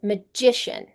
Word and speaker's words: magician: something, then it becomes magician. The stress of the syllable changes. Magic, the stress is in the first syllable. Magician, the stress is in the second.